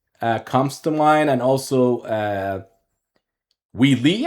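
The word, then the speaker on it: Wei Yi: Like I would say Prague comes to mind, and also Wee Lee. I think that's how you pronounce the name. Wee Lee or Wee Yi, Wee Yi, I suppose. Wee Yi, it's a name.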